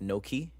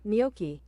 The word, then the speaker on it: gnocchi: I think gnocchi is pronounced no-key. Is it no-key? Oh, I'm about to get schooled. The Hello. Oh. Noki. Ah, You right. Niyoki. Oh, it's niyoki.